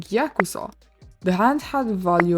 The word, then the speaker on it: Yakuza: In Japanese, these are pronounced ya, ku, and sa, together forming Yakuza.